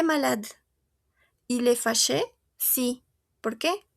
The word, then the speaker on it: malade: Si se dan cuenta aquí yo no pronuncio mi e porque no tiene til diferencia de los demás. Il est maladé. No, il est malade.